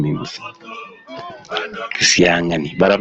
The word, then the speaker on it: Kitengela: There's an apostrophe on the NG. Kitengela. Actually, that's how you pronounce my name.